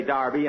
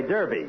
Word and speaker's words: Derby: Darby last Saturday Phil that's Derby the English say Darby and the Americans say Derby you had the losers